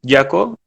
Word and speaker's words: Jaco: Bueno, mi nombre es Jaco, se pronuncia Jaco como el personaje nuevo de Dragon Ball Super, para los que les parece curioso.